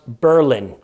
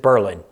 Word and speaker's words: Berlin: And in Massachusetts, we have a town pronounced Berlin. Spelled like Berlin in Germany, but I'm guessing they didn't want to be confused with the German city, so they went with Berlin.